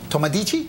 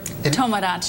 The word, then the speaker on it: Tomodachi: the US Japan's Council's Tomodichi, did I say it right? Tomodachi. Tomodachi.